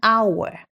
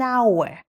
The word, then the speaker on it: hour: like an apple an hour and an interesting story funny fact our starts with an H but H is silent so it actually starts with a wowl sound making at an hour English am I right